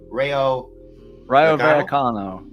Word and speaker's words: Rayo Vallecano: Rayo Vallecano.